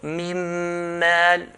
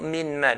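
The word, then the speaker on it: مِن مَال: So mim mal, and not min mal. Min mal will be idhar.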